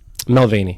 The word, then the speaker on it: McElvaney: Obviously, Braden McElvaney? Melvaney, yep.